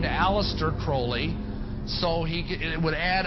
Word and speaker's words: Crowley: develop a litter crawley he likes to have his name pronounced Crowley to rhyme with holy and the Satanists today